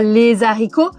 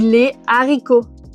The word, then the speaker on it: haricots: Rappel, on ne dit pas les haricots, on dit les haricots, même si maintenant, bon, c'est pas mal accepté de dire les haricots.